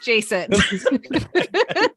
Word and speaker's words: Jason: His name rhymes with basin. It's Jason.